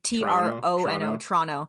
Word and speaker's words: Toronto: You also don't need to pronounce it Toronto. That is not how we pronounce it. Toronto. Well, usually it's like Toronto, like Trono. Toronto. Okay. Yeah. Like TRNO.